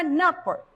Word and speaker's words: नृप: लेकिन जैसे ही हम न के साथ में री की मात्रा का प्रयोग करते हैं, उच्चारण में भिन्नता आएगी और शब्द बन जाएगा नृप, नृप।